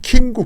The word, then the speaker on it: 김구: 그렇게 해서 그렇기 때문에 그러면서 자기 아버지가 신흥주에서 그렇게 긴구 이야기할 때는 킹구 긴구 그런다는 거예요. 킹구. 예. 음. 왜냐면은 김구 발음을이 서북사트로 오게 되면 킹구 킹구 그런다는 거예요.